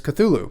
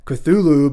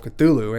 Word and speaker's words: Cthulhu: So then in the title, there's Cthulhu. You do have a small contingent of Lovecraft nerds online who say it's not pronounced Cthulhu, but rather more like a cat coughing up a hairball, but I'm not going to do that here.